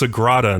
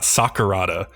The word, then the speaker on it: Sagrada: workers like makes a point of saying it's pronounced Sagrada not Sakurada and I was like come on that has